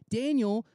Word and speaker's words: Daniel: this guy daniel not like spelled in you'll pronounce danielle but like his name is actually daniel uh